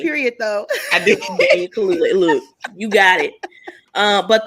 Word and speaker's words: Kaluuya: Daniel Kaluuya is how you pronounce it.